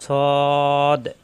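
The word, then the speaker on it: ص: সবাই লক্ষ্য করুন, সৎ সোয়াদ হবে না, অনেকে কিন্তু সোয়াদ পড়ি, সদ সদ সদ সদ, সৎ, জিহ্বা নিচে তাতে চাপ দিয়ে, সৎ সিন ঝা, তিনটাই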